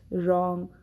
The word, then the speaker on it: wrong: See, right, rest, wrong, wreck, rap. When there is W in the beginning and it precedes the letter R, we do not pronounce W. The sound of W is not heard.